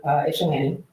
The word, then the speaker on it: Ypsilanti: We went out to Ypsilanti. So that's how you pronounce that.